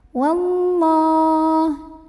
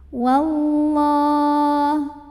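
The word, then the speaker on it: وَاللَّهُ: Wallah. Kemudian lam jalalahnya dibaca tafkhim karena huruf sebelumnya waw berbaris fathah. Maka bacanya tebal, pangkal lidah dinaikkan. Wallah.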